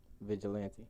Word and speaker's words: Vigilante: Vigilante. Vigilante. Yes. So it is pronounced how it's spelled because a million people asked me.